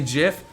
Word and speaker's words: GIF: do you pronounce ooh I pronounce it gif some people say jiff like the word gif but I think Jeff is for peanut butter i pronounce a gif